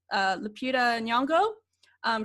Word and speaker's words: Lupita Nyong'o: the movie, Nakia, played by, how do you pronounce her name? I want to say, make sure I say it right, Lupita Nyong'o.